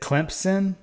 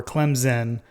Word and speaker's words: Clemson: Is it Clemson or Clemson or something else? Like, are you familiar with this? A lot of people pronounce it where, like, there's a P in it. Yeah. Clemson, which I feel like